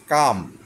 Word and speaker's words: calm: শান্ত হও, শান্ত ইংরেজি হচ্ছে কাম, CALM। এলটা এখানে উচ্চারণ হবে না, শুধু এমটা উচ্চারণ হবে, কাম।